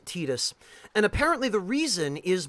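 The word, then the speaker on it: Tidus: pronounced it tetus because that's how you would pronounce it the way it's written in uh Katakana you would pronounce it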